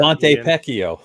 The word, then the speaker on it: Ponte Vecchio: It's Ponte Vecchio. Rhymes with Pinocchio or something.